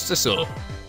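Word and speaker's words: Sissel: right now is that my name is sisil and it rhymes with pistle and your name is sisle huh I think so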